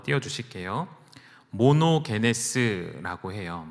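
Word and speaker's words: μονογενής: 되었냐 하면 헬라어를 한 번 뛰어 주실 게요 모노 베 네 스 라고 해요 뭐 녹 ns 라고 읽으시면 됩니다 이게 우리말로는 독생자 로 번역이 됬습니다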